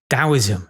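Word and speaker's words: Taoism: Now, we have dowoism. It's interesting how sort of daoism has got a silent T in it. He never say that.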